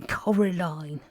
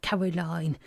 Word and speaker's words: Coraline: name wrong you know they keep saying Coraline not Caroline not Caroline at all he picked up a